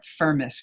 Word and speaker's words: Firmus: Augustine writes to a Carthaginian nobleman named Firmus, or Firmus, we could pronounce it.